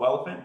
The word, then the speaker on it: Welephant: are we building uh this is called elephant that's spelled elephant with a W it's a like a